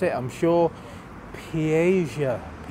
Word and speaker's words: Piega: Piega. It basically is pie with a GA at the end, so you can't say it without saying pie, but you have to, yeah.